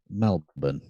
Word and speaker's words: Melbourne: no no no no no Christie Krista Melbourne pronounce it correctly Melbourne yes and it's not and it's not Brisbane